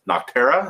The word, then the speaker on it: Nocterra: that was probably my favorite last week but nocterra is how you say it that was really